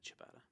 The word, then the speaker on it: ciabatta: It doesn't really matter, but it's Italian, so the CI is cha. So is that really how you pronounce it? Yeah, ciabatta.